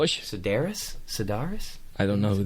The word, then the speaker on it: Sedaris: David how do you say his last name Sedaris Sedaris I don't know who that is he's